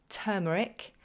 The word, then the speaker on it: turmeric: Every time now I want to say the word turmeric, I'm going to turn my finger, I'm going to think about turning, and that will give me the right lead into the pronunciation.